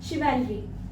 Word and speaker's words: chivalry: Courage, sacrifice, piece and truth, faith and शिवेलरी बोला जाता है इसको, वीरता को इंग्लिश में CHIVALRY. CHIVALRY इसकी करेक्ट प्रोनाउंसिएशन है शिवेलरी.